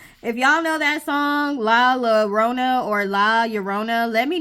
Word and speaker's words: Llorona: So this is number 23, La Llorona. Because I think double L in Spanish makes a Y sound. So I think I'm pronouncing this right. La Llorona.